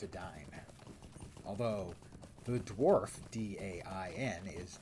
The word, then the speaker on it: Edain: And the name of the Elvish name for men is Edain, and for many years I pronounced it the Edain. But no, it's Edain.